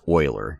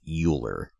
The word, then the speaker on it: Euler: angles node as well and yes it is pronounced euler not euler don't ask me why that's a mystery we